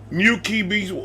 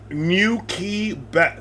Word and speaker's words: gnocchi: Gnocchi, best way to pronounce it. Gnocchi.